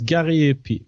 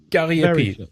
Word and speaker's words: Gariépy: line, JF, and let's see if I can pronounce his name now. Jean-Francois Gariépy. Was it? Yeah, very close. Gariépy. Gariépy.